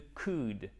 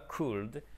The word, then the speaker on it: could: est toujours cher ami le coude on prononce pas le elle bien évidemment ok on nie pas could mais que du please